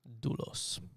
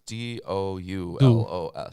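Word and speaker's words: δοῦλος: Doulos. It's D-O-U-L-O-S. That O-U is pronounced just like a ooh.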